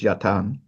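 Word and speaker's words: yatağan: Uh yapan is what we pronounce as yatagan but in modern Turkish is yatan.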